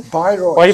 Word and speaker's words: Bayreuth: And he's also been to Bayreuth, is that the right pronunciation? Bayreuth.